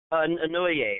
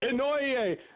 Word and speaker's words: Inouye: I can't pronounce his name, so I'm going to spell it for the people. Inouye. Huh? Yeah. Inouye, I think is how he says it. Inouye.